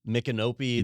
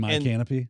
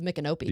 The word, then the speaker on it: Micanopy: So here we're in Central Florida, and there's Ocala, Micanopy. There's cities with weird names, right? And my canopy.